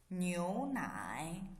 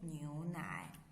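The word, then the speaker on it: 牛奶: okay next one milk milk how to say neonai new night milk so this is a cup of milk how to say ee bay nyonai bay newnai okay what about this kind of milk it's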